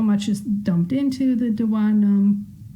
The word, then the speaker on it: duodenum: the small intestine is called the duodenum or the duodenum. I've heard it pronounced both ways. I pronounce it duodenum, but it empties into the duodenum.